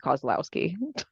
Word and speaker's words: Kozlowski: That's like super close. Kozlowski, Kozlowski. I honestly don't actually know how to pronounce it cuz my dad said that in the '40s you could change the pronunciation of your last name. So I just go with Kozlowski.